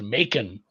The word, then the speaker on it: Macon: It is Macon, Georgia. It is a hard C with that one.